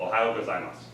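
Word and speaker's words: ohayō gozaimasu: However, if you want to say good morning, it's pretty simple because it's got one of our American states' syllable sounds in the name, which is Ohio, Ohio, and then just add gozaimasu to the end and it makes it formal. So Ohio gozaimasu.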